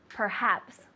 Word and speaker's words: perhaps: The first one, how do you say perhaps in Spanish? Quizás. Quizás, good, or tal vez, things like that, right? Perhaps, so you have the H.